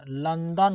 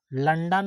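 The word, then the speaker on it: London: भ हो जाएगा ओ एल ओ एन डी ओ एन लंदन होता है लंडन नहीं लंदन होता है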